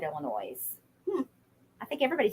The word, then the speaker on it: Illinois: lot of countries um the S is silent in Illinois it's Illinois Illinois sorry um hi Jackie